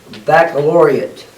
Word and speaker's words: baccalaureate: I am terrible with that word so it's baccalaureate is how you say it so you think